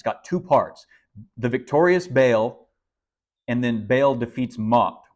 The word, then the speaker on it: Baal: Called Baal or or I'll just pronounce it bail here for Simplicity but but all is probably a little bit more uh accurate term so this is